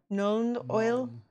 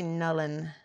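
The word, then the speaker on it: Nuln Oil: a grexit shade and how do you say it known known oil known oil no no we say Nolan Nolan okay known oil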